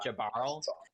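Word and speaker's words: Jaearl: his name wrong it's it's spelled j-a-e-a-r-l so i think it's just jabarl but a lot of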